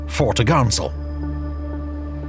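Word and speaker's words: fore topgallant sail: sale pronounced topsail and four top gallant sail pronounced fortagansel on the main mast the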